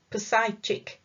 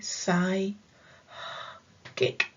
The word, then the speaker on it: psychic: lesson later on is psychic doesn't look like you would say it like that poseidchik but i put in square brackets at the side pronounced psychic okay psy kick what does it mean